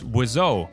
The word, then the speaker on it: Wiseau: nickname Birdman and that is where the name wizo comes from bird in French is wizo which when combined with Tommy's original last name then becomes wizo wo mean birds if you put o so